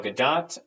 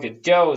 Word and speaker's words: Gadot: Gal Gadot, or although as a theater major, I want to call her Gal Gadot so much because it's spelled like Gadot, damn it. But if she calls herself Gal Gadot, I guess it's Gal Gadot.